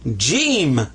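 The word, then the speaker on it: جيم: His name is Jim. So whenever you see ha, but he's got this, that's Jim. And so this is the sound of an H. This is the sound of a J, ja.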